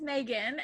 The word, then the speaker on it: Maghon: cuz I think it's really unique name is Megan and it's spelled mah string of letters together and she